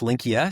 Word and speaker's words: Linqia: L I N QI A and we are pronounced Linkia. So memorable but slightly different pronunciation than most would expect.